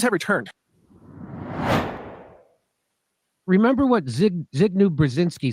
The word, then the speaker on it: Brzezinski: And big news, I think is how you pronounce it. It's big news, Brzezinski.